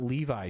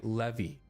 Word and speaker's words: Levy: It's not Levi chat. Is there anything else this one might help you with? You say le vi levy. It's not There's no I in my name.